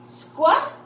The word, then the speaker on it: squeal: So the first one is long, and the next one is silent. So let's read the word together. Squeal.